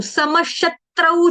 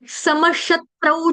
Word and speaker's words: समशत्रौ: समशत्रौ च मित्रे च, है ना, देखो श के ऊपर आघात, क्यों? क्योंकि यहाँ पे त्र त्रिशूल वाला है। मी के ऊपर आघात, क्यों? क्योंकि यहाँ पे त्र त्रिशूल वाला। ठीक है, तो दोनों पे आधे त का आघात आ जाएगा, त आधा तरबूज वाला।